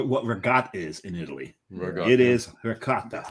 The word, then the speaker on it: ricotta: Ricotta. It is ricotta. It's ricotta. Ricotta. The C gets pronounced twice. It's doubled up.